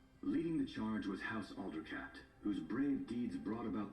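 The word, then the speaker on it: Aldercapt: things in this game i didn't know it was alder cat i thought it was alder capped like cap not alder cat like alder you know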